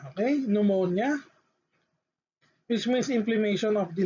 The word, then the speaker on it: pneumonia: so for p n so it should be pronounced as letter n so the example is pneumonia pneumonia okay pneumonia which means implementation of the lungs okay the